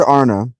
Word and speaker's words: An: The word Arna, pronounced broadly Arna, corresponds with our plural men. On, pronounced Arn, the singular with man.